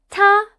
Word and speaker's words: 他: 他 means he or she. Yup, same sound. The character is different, but the pronunciation is the same.